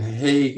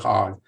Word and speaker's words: Hague: got together in in hay and you may call it Hague you may call it hot depends upon how you pronounce it to determine is